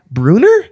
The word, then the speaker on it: Bruener: Pat Bruener? Yes. I pronounced your name right.